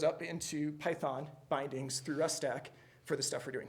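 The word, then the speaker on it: rustac: It's pronounced Rust stack. We think, I don't know, we just made it up.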